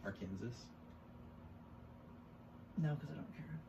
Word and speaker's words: Arkansas: Did you know that the state is pronounced Arkansas, but the river is pronounced Arkansas?